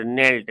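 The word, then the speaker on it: knelt: in prayer to गॉड नेल्ट नेल्ट मी्स झुकाना जैसे नमाज वगैरह पढ़ते वक्त झुकाना करते हैं ही नेल्ट in prayer to गॉड एक के साइलेंट होता है इसमें फिर है आपका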